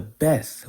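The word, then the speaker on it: ב: the alphabet as Waw, differentiating it from the Bet, or the Beth, which is the 2nd letter of the Hebrew alphabet. When it doesn't have a dot, it is pronounced as a V. When it has a dot, it is pronounced as a B.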